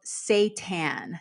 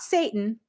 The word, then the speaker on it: seitan: The first one is called seitan. Seitan, not Satan, seitan. So that's spelled Seitan.